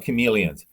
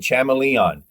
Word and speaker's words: chameleons: there to know about chameleons except how to pronounce chameleons and if you go up on stage and start saying chamaeleon and this chamaeleon over